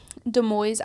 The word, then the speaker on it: Des Moines: In Des Moines, Iowa, for some reason, I was like, I know that it's not said like it's spelled, but I can't.